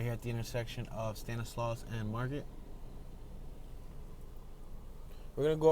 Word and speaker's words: Stanislaus: is that block that i was trying to pronounce earlier stanislaus stanislaus stanislaw standing slow s-t-a-n-i-s-i i'm sorry tongue twister s-t-a-n-i-s-l-a-u-s